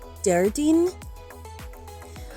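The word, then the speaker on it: Déardaoin: mort wednesday is decading decating thursday is darden dardin friday is tahina tahina saturday is de sahan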